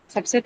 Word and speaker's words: subset: Subset subset is what? It's a noun. So has to be marked on the first syllable.